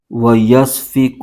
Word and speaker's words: وَيَسْفِكُ: پیش کد، دال زردی، میم الف زبر ما، ویسفک الدماء، حمزہ زبر آ، ویسفک الدماء، وَنَحْنُ نُسَبِّحُ